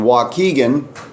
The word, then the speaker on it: Waukegan: lake county illinois in waukegan it's spelled wau ke gan waukegan illinois january twentieth 9am